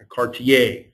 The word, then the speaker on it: Cartier: Cartier, I'm going to do the French pronunciation.